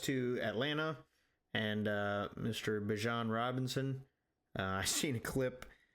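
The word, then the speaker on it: Bijan: Bjan Robinson. I seen a clip where they were asking him how to actually pronounce his name. It is not Bejon, it is Bjon.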